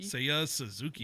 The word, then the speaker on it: Seiya Suzuki: Uh I went, you know, to the Japanese side of things and I went with uh am I pronouncing this right? Seiya Suzuki. Seiya Suzuki.